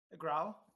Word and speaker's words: Grau: Grau, just like Grau is a color gray.